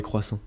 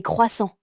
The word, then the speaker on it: croissant: Alors moi j'adore les croissants et les pains au chocolat. Attention, sujet dangereux en France. Oui, je sais. Et toi Nina, tu aimes la cuisine française ? Oui, j'adore les crêpes et les croissants.